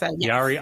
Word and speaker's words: Yori: gonna butcher it but I'm to you okay Yari I rested up Yari a I just butchered that didn't I say it for you got it Yari Yari everyone psychotherapist author podcaster she all